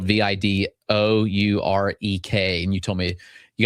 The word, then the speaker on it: Vidourek: That's spelled V I D O U R E K.